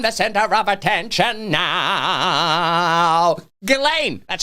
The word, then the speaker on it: Ghislaine: Ghislaine, that's how you say it.